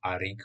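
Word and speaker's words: Arryk: Oni majú aj rovnaké meno v podstate, len jedno sa píše s A, jedno s E, takže jeden sa vyslovuje ako Eric, druhý ako Arik v podstate.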